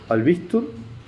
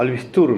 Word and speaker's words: Albistur: Y después que de esa presentación inusual, se presentó él, era apellido Albistur, no, Albistur me dijo él, que era la pronunciación correcta.